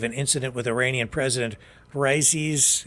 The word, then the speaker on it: Raisi: incident with Iranian President Raisi's, is it Raisi or Raisa? It's spelled R-A-I-S-I, yeah, Raisi.